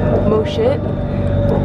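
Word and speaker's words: Mo Chit: and we're heading towards mosit I'm not kidding you that's how you pronounce it star terrain one side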